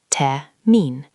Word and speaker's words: Termin: Can you hear that R sound at the end, almost like a soft R sound? Termin.